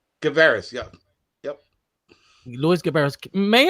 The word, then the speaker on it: Guevarez: how do you say your last name louis guevaris yeah yep louis gibberish may i ask your